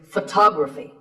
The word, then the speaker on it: photography: Our next word is photography. We say photograph, but photography. So the first syllable becomes ph, and the stress goes to the second syllable, photography.